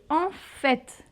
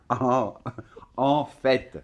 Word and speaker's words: en fait: Donc, c'est en fait. Et Oui. on prononce aussi le T. Oui, et attention, alors l'autre c'était au, fait, et là c'est en, avec la nasale, en, hein, en fait.